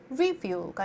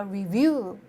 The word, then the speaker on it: review: 그리고 여러분 review 그러면 이게 액센트가 어때요? review가 아니라 review. review 하고 여기 액센트가 있다 보니까 여러분들 귀에 딱 남는 소리는 view잖아요.